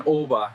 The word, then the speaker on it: Å: The village of Å, pronounced Å, the last stop on the E10 highway.